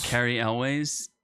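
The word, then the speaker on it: Cary Elwes: I like Carrie Hughes or whatever. Carrie Elways.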